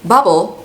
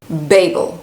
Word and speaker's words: Babel: So I have been reading bubble. No, babel. Babel. And how do I know that it is pronounced babel?